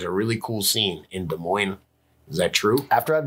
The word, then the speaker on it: Des Moines: People can't pronounce. I believe it's Des Moines.